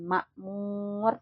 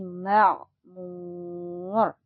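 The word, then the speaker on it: مَعْمُور: waltil wtil maurmur ada huruf Ain maka kita harus ee cara bacanya berbeda dengan huruf alif ya bukan Makmur tapi Makmur dimasukkan lagi karena huruf Ain itu asalnya dari tenggorokan ya Makmur wasqil marfu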